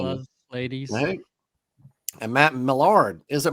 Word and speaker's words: Millard: It's actually Millard, but it seems like it depends on where you're from on how it's pronounced, but it's Millard. Yeah, I grew up in South Mississippi and Louisiana, so it's Millard down there probably.